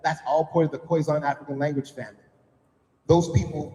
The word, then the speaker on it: Khoisan: Uh the Khoisan, Nilo-Saharan, Afroasiatic, Niger-Congo are the major language families in Africa. You actually probably heard of this one. It isn't pronounced Khoisan. It's pronounced Khoisan.